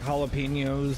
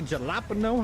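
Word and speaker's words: jalapeño: me giggle because the J is silent. I will say jalapeno however I want. You know what? Ju just because you corrected me, Timbo, it is now permanently jalapeno.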